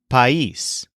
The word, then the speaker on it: país: Let's begin with the word for country, which is the masculine noun país, spelled P-A-I-S, but with an accent on the I.